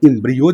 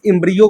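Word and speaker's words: embryo: अगर आपके दिमाग में इस युग्मनज के साथ साथ अगर इम्ब्रियो दिखाई दे दे, अब प्रोनाउंसिएशन देख लेना भाई, इस इम्ब्रियो को कोई इम्ब्रायो भी बोल देता है।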